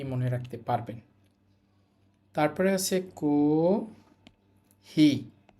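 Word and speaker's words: コーヒー: রাখতে পারবেন তারপরে আছে কহি কহি কহি টেনে বলতে হবে এই যে হাইফেন গুলো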